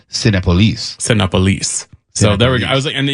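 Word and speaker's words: Cinépolis: I got to stop you there because we've been mispronouncing it for all these years, and so I saw a commercial, and it's Cinepolis.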